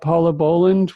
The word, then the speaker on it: Bohland: We have Paula Bohland. Am I pronouncing your name right?